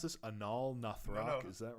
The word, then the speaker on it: Anaal Nathrakh: We've got, how do you pronounce this? Anaal Nathrakh, No.